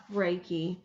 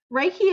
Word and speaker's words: Reiki: soon so let's talk first about what is raiki raiki is spelled r e k i so let's break